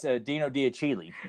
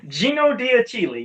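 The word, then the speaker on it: Gino D'Achille: That's Dino Diachili. Gino Diachili.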